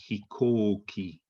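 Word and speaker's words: 飛行機: it's kuko yeah and the same thing with the airplane this is hikoki with that um k-o-u are you making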